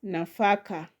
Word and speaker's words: nafaka: The next word there is nafaka. Nafaka. So the second syllable from the end is fa. We have na fa. So far from the end is the second. So the stress is going to be that on that syllable fa na faka.